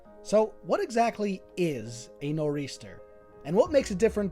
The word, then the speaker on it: nor'easter: the way to 1594, taken from the maritime pronunciations of the points of the compass.